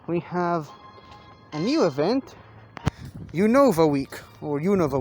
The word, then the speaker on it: Unova: uno of a week never really been 100 sure on how to pronounce the name of this region the universe region univa unova not again not 100 sure on the pronunciation but um i know